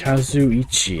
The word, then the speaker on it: Kazuichi: Kazuichi is how to pronounce it.